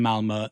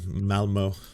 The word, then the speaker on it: Malmö: pro-Palestine That's funny because I guess I've been mispronouncing it for a while. I keep saying Malmo. protests But it's Malmö.